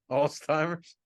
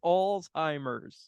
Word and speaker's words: Alzheimer's: wearing so worried about Alzheimer's there's no tea in also it's Alzheimer's Alzheimer's oh my Lord